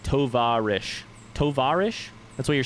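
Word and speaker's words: товарищ: Tovarish. Am I putting the emphasis on the right syllable? We should just do this part while it's here. On the va.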